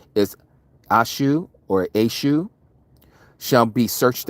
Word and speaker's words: Esau: How Esau, and that again, for those of you who know the true pronunciation, is Ashu or Ashu, shall be searched out.